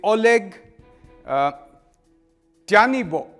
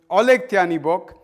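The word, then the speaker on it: Oleh Tyahnybok: who I'm going to look up the exact pronunciation because I don't want to get this wrong. This man's name is Oleg Tyanibok. Oleg Tyanibok, and he is an open anti-Semite and leader of the neo-Nazi party Svoboda.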